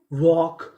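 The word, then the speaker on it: walk: WAL के वॉक, यहाँ पे जो हमारा L है वो भी साइलेंट रहेगा, इसका भी उच्चारण नहीं करना, तो मीनिंग बनी वॉकड, वॉकड।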